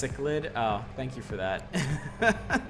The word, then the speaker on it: cichlid: Your wife pointed out it's pronounced cichlid.